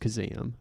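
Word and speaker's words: Kazaam: starring shaquille o'neal as the genie it's actually pronounced kazam oh it's like chasm that's a that's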